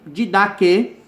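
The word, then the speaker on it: Didaquê: O didaque, palavra grega que tem o significado ensino, pronuncia-se didaque, também chamado Ensino dos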